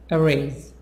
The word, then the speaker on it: erase: a promotion a promotion erase erase is a Z a promotion arrays 11